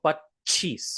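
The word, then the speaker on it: પચીસ: 25, you'll notice there is a half cha and a full cha. So pachis, right? Pachis. There's an extra like cha in there. But when we actually pronounce it, in fact, I'll even delete this just to make it easier. When we actually pronounce it, it's just pachis. We don't actually pronounce this half cha over here.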